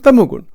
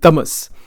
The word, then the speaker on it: Tamas: Sattva gun, Rajogun, Tamogun. Or it's actually pronounced Sattva, Rajas, and Tamas.